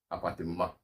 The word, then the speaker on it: appartement: Usually when you see a word in French which is masculine and ends in a consonant, that consonant is not pronounced, right? So we say ma, appartement, right? Un appartement, un vêtement. You don't say mat.